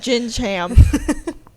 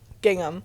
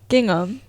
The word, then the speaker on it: gingham: listen to that episode lunching yeah and I'm pronouncing it lunchy on the entire episode luncheon and jinjam what's the name gingham gingham anyway The Gingham print was pink and Dorothy